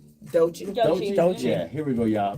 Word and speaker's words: Doechii: Doechii? Doechii.